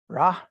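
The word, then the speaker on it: רע: We have this Hebrew word here, okay, pronounced Ra, right?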